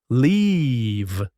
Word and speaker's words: leave: Long, just like sheep. Beat, feel. The word is leave.